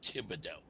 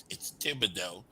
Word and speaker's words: Thibodeaux: So anyway, um, guys, let's talk to Thibodeaux. Now, guys, it's Thibodeaux, Thib. Spell it. T. There you go. Thibodeaux. EAUX.